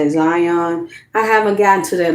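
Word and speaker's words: Xion: Is that X I O N? Please show me how to uh pronounce that. Zion.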